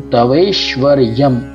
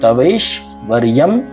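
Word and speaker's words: तवैश्वर्यं: तवै श्व, रकार अफार श्व, य ऊपर बिंदी है, तो तवैश्वर्यम।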